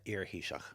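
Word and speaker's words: iar-Thaoiseach: Uh, earshock. Okay, I'm not I'm not going to try and pronounce that. Just think of ear.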